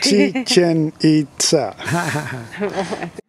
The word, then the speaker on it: Chichen Itza: So remember how you pronounce the name of this place, señor, again? Chichen Itza.